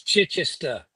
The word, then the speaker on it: Chichester: here's Craig to talk about uh stuff we mispronounced or got wrong and there's Elliott so let Craig it's Chichester CH Cher where exactly where exactly is that